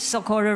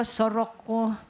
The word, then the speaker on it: Socorro: My name is Socorro. I'm from the Philippines. Just call me, because people mispronounce my name. Socorro, Soroko, Sakura, and I read it.